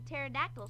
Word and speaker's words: pterodactyl: It's pronounced pterodactyl, I think you'll find. Pterodactyl. You see the P in it there? Pterodactyl, that's it.